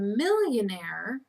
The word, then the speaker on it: millionaire: millionaire okay spelling danger because it has a silent E on the end you got to remember because normally we spell a a i r right but in the word millionaire we add an e